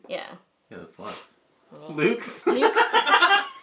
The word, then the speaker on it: luxe: L-U-X-E? Yeah. Yeah, that's Lux. Luke's?